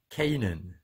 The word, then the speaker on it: Canaan: are several videos and I prefer the American pronunciation because I live and work here in the United States so I choose that video and it's pronounced as Kanan Kanan how do you